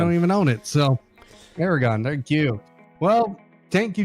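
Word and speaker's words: Aragón: I can't even pronounce the track name. Aragon. I don't even own it. So Aragon, thank you.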